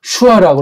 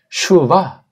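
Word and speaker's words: שְׁוָא: 이게 구약 문법 영어 랍비들이 만든 건 이걸 슈바. 이 발음을 못 내는 영국 아이들이 와라 슈와 그래요. 슈아보다는 독일식으로 슈바가 실력 있는 사람이에요.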